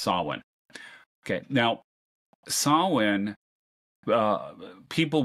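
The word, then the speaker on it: Samhain: that's called Solin uh it's pronounced slightly differently depending on where you are but it's never spelled like it sounds It's s a m ha a i n it looks like samhan but it's pronounced Sinn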